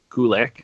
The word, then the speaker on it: Gulak: Gulak. Oh yeah. It rhymes with attack.